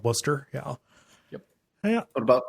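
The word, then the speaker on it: Wooster: yeah it's it's spelled it's spelled woster but we call it Worster yeah yep yeah what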